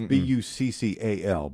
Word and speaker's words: buccal: spelled like belt buckle. It's Buccal.